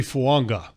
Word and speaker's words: Fuaga: Tois fuaga Oregon State it's actually fanga there's an n in there that's in the pronunciation a that's not in there thank you in the spelling and this is a